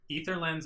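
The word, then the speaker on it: Aether Lens: say Eis the way it's supposed to be pronounced you know ice frock himself got mad that call EEG ether lens and egis ether lens is correct but people just like to say ather so whatever armor reduced by one and damage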